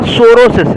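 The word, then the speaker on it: psorosis: तो बच्चों जो आपका सोरोसिस है पी यहां पर साइलेंट सोरोसिस है।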